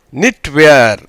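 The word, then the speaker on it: knitwear: கேஎன்னுக்கு கேக்கு உச்சரிப்பு கிடையாது. இன் ப்ளஸ் இ நீ. டீக்கு வந்து இட், ஏன்னா தனியாக வந்திருக்கு, அது வச்சு புள்ளி வைத்த எழுத்தா மாதிரி இருக்குது. WEயும் சேர்ந்து வி இர். நிட்வேர் எப்படி மாறுது?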